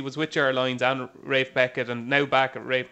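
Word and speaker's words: Ralph Beckett: It was just as well your pronunciation of Rafe Beckett was spot on there. He gets the humble if you call him Ralph, but I just call him the greatest.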